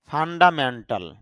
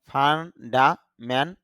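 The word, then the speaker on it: fundamental: বা অর্থ যোগদান দেওয়া ফান্ডামেন্টাল ফান্ডামেন্টাল বলি তবে আইপিও অনুযায়ী তার শুদ্ধ উচ্চারণটা হবে ফান্ডামেন্ট টল। এখানে ট পরে আ সাউন্ড নাই। এজন্য টল সাউন্ডটা শুদ্ধ হবে।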